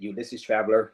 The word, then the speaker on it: Ulysses Traveler: I know I was getting on his nerves because I was calling him Ulysses Traveler earlier, but Ulysses Traveler, that's his real name. That's how you pronounce it. Ulysses Traveler, his channel.